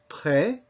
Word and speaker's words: près: Now, you can see that these are not all spelled the same way, but they all have that same sound, eh.